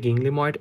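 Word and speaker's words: ginglymoid: সেটা হচ্ছে জিং গিংলিময়েড জয়েন্ট, একটা হচ্ছে এটার উচ্চারণটা হবে গিংলিময়েড জয়েন্ট, আরেকটা নামকরণ হচ্ছে গিংলিমো আর্থ্রোডিয়াল জয়েন্ট।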